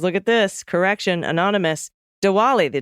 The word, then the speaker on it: Diwali: yes it is look at this correction Anonymous Diwali the D is pronounced like a V de volley I was at the zoo with my 19